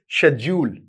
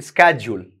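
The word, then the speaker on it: schedule: शेड्यूल it's pronounce इदर अगर आप British sounds को फॉलो कर रहे हैं तो आप बोलेंगे इसको शेड्यूल सो इट्स not dual it's joule American English में इसको कहते हैं स्केड्यूल दोनों में ही जूल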